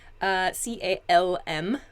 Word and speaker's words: calm: C-A-L-M, so calm. There's a kind of softish L sound there.